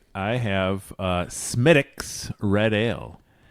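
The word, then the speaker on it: Smithwick's: I have uh Smidix red ale. It's a great classic Irish ale. Not Smidwix. Smidix. How's it spelled? Smith Wixs. Yes. Smith Wix and it's pronounced Smidix.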